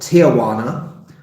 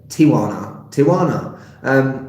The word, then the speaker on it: Tijuana: Not Tijuana, as I used to pronounce it. Tijuana. It's not that many syllables.